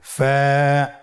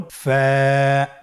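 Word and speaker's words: ف: ফা হরফটি উচ্চারণের ক্ষেত্রে বারিক হবে এবং এক আলিফ টেনে পড়তে হবে। আপনারা আমার সাথে আবার বলুন। ফা, স্ক্রিনে দেখতে পাচ্ছেন ফায়ের মাখরাজ। ফায়ের মাখরাজ হলো নিচের ঠোঁটের প্যাড সামনের উপরের দুই দাঁতের আগার সঙ্গে লাগিয়ে উচ্চারিত হয়।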